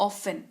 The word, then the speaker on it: often: अक्सर यानी कि ऑफन। टी इसमें साइलेंट रहता है। OFTEN की स्पेलिंग होती है, लेकिन उच्चारण ऑफन किया जाता है।